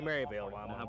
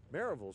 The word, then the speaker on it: Maryville: map and once again how do you pronounce this town Miravalle is what I say I was trying to